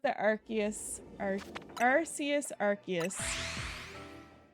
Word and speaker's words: Arceus: You say Arceus, I say Archius. I think, I could be wrong. I do think that the way I do think that the way that Pokémon wants it to be pronounced is Archius. I'm pretty sure that's been official, but but That's true, Chris.